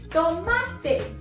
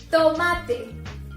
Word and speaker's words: tomate: Tomato, we pronounce in Spanish, tomate. Tomate.